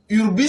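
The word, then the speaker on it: hubris: Le syndrome d'Urbis, Urbis, ça s'écrit H-U-B-R-I-S.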